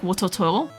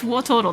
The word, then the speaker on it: Wartortle: I always say it like Wartortle, because that's how my family used to say it. But it's Wartortle.